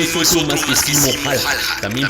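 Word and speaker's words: Häyhä: Este no es otro más que Simo Haija, también pronunciado Simo Haija, pero más conocido por su escalofriante apodo, la Muerte Blanca.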